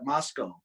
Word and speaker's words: Moscow: Like we have a Moscow, but we call it Moscow.